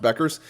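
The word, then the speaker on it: Bueckers: I think it's pronounced Beckers.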